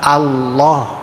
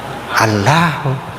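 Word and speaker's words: الله: bahasanya Ibrani, Tuhannya namanya Allah. Dan hamzahnya dibaca A ya, jangan O ya.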